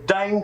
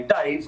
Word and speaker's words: Dain: me what's your name i say dane they say dave i got no dane